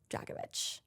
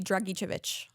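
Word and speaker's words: Dragičević: This episode is dedicated to Alex Dragovich. Which, by the way, did you notice how we cut out a whole syllable of his name? What do you mean? It's definitely supposed to be Dragicevic.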